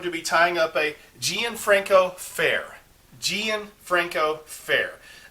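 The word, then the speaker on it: Gianfranco Ferré: be tying up a gianfranco fair gianfranco fair it looks like it would be jean franco i actually had to google how to pronounce it's gian franco fair that's uh their label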